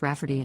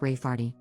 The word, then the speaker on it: Rayfarty: to name my niece Rayfarty, pronounced Rafferty, not at all like Rayfarty.